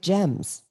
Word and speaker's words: Gem: or Gems, no, G-E-M, like gemstone. Gem. Like Jim Stone.